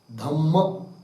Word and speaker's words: धम्म: सूत्र नहीं कहेंगे, धर्म नहीं कहेंगे, क्या कहेंगे? धम्म। कोई बौद्ध का वाक्य सुना होगा ना, धम्म ऐसा होता है। सुत्त है कि नहीं, र नहीं उच्चारण करते वो लोग।